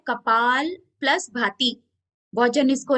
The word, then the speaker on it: भाति: Okay, kapalbhati में क्या होता है, कपाल प्लस भाति। बहुत जन इसको ना, अभी तक बड़े लोगों के मुंह से भी आप सुनोगे, वो लोग इसको सही प्रोनाउंस भी नहीं करते, कपाल भारती बोलते। तो भारती नहीं, भाती।